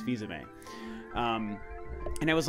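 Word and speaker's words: Fils-Aimé: name back then like I was like Reggie fils-aime that's what I called him for a long time until he finally I heard him pronounce that one day is Fiza May and it was like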